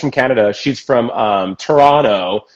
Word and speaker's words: Toronto: canada she's from um toronto not toronto toronto toronto and toronto and yeah she though she she schooled me ad nauseam about how to say it she's like the t is soft stupid um but she